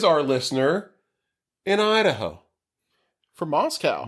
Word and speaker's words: Moscow: From Moscow. Not Moscow, Idaho, CJ, because in his email he lets me know that it's pronounced Moscow.